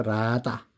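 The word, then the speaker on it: רדה: 라다입니다. 히브리어 라다 라다라고 읽습니다.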